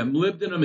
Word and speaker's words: molybdenum: and then the iron do you ever use Mali Blenheim um for Hardy yeah molybdenum is its again um is that how you say it yeah yeah so is a